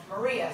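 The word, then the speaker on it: Moriah: of Orthodox Jews called Moria, spelled M-O-R-I-A-H, but pronounced as in, how do you solve a problem like?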